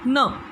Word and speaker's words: know: KN को कैसे पढ़ते हैं, न, न, नो, हम KNOW, नो। नाइफ का बहुत ही साइलेंट है, यहाँ पर न ही हम पढ़ते